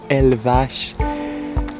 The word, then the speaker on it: Elvas: Comment ça s'écrit Elva, mais prononciation Elvache.